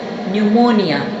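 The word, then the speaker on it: pneumonia: फेफड़ों का वर्म या फेफड़ों की सोजन, इसको कहा जाता है न्यूमोनिया। यहाँ पे पी जो है ये साइलेंट होगा, इसको नहीं पढ़ा जाएगा, न्यूमोनिया।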